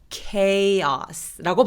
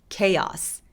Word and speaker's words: chaos: 이 카오스는 카오스가 아니라 chaos라고 발음해요. 자, K로 발음합니다. 다시 한번 해볼까요? chaos.